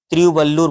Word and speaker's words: तिरुवल्लुर: रचनाकार था तिरुवल्लुर, यानी कि तिरुवल्लुर, तिरुवल्लुर बोलेंगे इसे। इसे आप थोड़ा सा प्रोनाउंसिएशन कर लें, तिरुवल्लुर, तिरुवल्लुर।